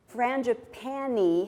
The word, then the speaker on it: frangipani: of she corrected them frangipani has one more syllable than frangipane and for a syllabic